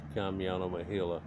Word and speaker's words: Kamyana Mohyla: over three years since i've done one of kamiano mahila it's spelled k-a-m-y-a-n-a m-o-h-y-l-a you can look in my